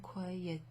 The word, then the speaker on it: croyait: Okay, but the verb croyer, again, there's a T at the end followed by a vowel, so you pronounce the T because of that. That's a liaison. On croyait au ciel, croyait au ciel.